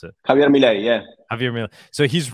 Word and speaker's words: Javier Milei: And this guy that's running for president right now, he's run the what's his name, Javier Milei, or how do you pronounce it? Javier Milei, yeah.